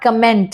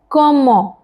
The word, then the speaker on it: comment: It's not comment, okay? It is comment.